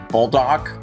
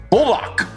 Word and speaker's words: Buldak: the bulck hot sauce is spelled b u l d a k so bulldock bulldock bulck you be the judge today I'm going with